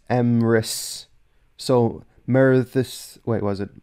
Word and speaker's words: Emrys: So, like, apparently the two D's, according to Luke, the two D's make a TH sound. So th. So Myrddin, as opposed to Myrddin. And Emrys is pronounced as Emrys.